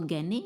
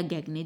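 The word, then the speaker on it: Gagné: आता है आपका गगने इसे आप किसी भी तरीके से जो है प्रोनाउंस कर सकते हैं या तो गने या गगने जैसे भी आपको ठीक लगे लर्नर्स इसके बाद ब्लूम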